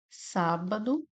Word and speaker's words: sábado: Sábado separa dessa forma. E é o mesmo caso do item A, né? Nós temos aqui uma proparoxítona, uma vez que a sílaba tônica é o sar.